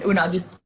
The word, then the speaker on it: Unagi: Friends episode on the, I hope I don't mispronounce it. Was it Unagi? Amber, is that right? Sorry, yep, was on mute. Yeah, Unagi.